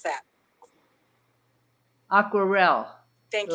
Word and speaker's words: Aquarelle: Marie, how would you pronounce that? Aquarelle. Thank you. L'Aquarelle.